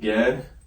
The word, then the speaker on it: Gad: The next one we got is the tribe of Gad. All right, and it sounds exactly how it's spelled.